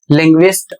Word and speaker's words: linguist: जैसे शब्द है LANGUAGE, इसमें यू पढ़ा जा रहा है और यू का उच्चारण हो रहा है वह, लैंग्वेज, और इसकी हिंदी होती है भाषा। LINGUIST, लिंग्विस्ट, और इसका अर्थ होता है भाषाविद या फिर भाषा विज्ञानी।